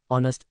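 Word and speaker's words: honest: women answer an explanation ऑनेस्ट starts with the silent H giving it अ वल sound ओ दस requiring N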